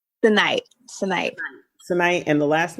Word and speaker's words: Senayt: happy to have you and I hope I pronounced your name correctly did I say it correctly tonight tonight tonight and the last name dime I've